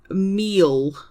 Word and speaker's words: mil: A thousand is meal.